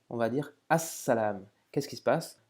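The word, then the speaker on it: السلام: salam, on va dire as-salam. Qu'est-ce qui se passe? Le lam de l'article n'est plus prononcé et on accentue comme si on avait une shadda sur la première lettre du mot.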